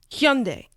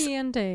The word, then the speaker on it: Hyundai: And also, it's pronounced Hyundai. Hyundai. Hyundai. It's Hyundai.